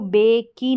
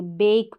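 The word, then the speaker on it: bake: जैसे ये, इसको बेक की नहीं पढ़ेंगे, बेक पढ़ेंगे।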